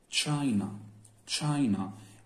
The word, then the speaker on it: China: وزي ما اتفقنا إن CH اتنطق ش. China.